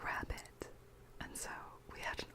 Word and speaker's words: rarebit: This, it's spelled rarebit, but they pronounce it rabbit, and so we had an argument over whether there was an American pronunciation of it.